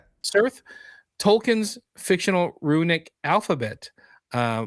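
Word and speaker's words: Cirth: A message flashes across the screen written in how how do you pronounce it? Sir Cir. Yeah. Cir.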